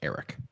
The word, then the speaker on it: Eric: Really quickly, according to an LSU media guide, it's pronounced Eric. Like E-R-I-C.